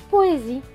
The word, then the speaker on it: poésie: vie pro et vie pro et vie la poésie très bien maintenant on va refaire cette ligne